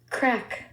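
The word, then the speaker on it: craic: this word ready yes crack did you just say crack crack like C A C K well it's spelled c r a i c crack crack hm so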